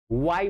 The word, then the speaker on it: why: आपको वाट बोलना है, वाई बोलना है। जैसे वाई बोलते हैं ना, WHY, तो उसको वाई नहीं पढ़ते हैं, क्या पढ़ते हैं? वाई। एग्जैक्ट लेटर बोलिए वाई। H complete silent mode में होता है।